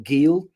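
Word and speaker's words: Geel: near a Belgian town called kale or Gil um if you pronounce it in an English way they just have a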